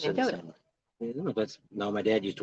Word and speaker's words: Mendota: Not pronounced Mendota. I know. You're saying it wrong. M-E-N, Men, D-O-T-A. Mendota.